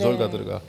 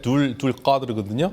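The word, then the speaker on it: ذوالقدر: 때문에 픽한 사람이기 때문에 졸가드르가 굉장히 중요해요. 졸가드르. 졸가드르인데 이게 무슨 뜻이냐면 아랍어로 하면 그게 둘 가드르거든요. 근데 페르시아 발음은 졸가드르인데 힘을 가진 사람.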